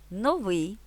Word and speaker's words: новий: курятина дрова лате підсилено вимовляємо другий склад У лексемах новий цінник мережа квартал феномен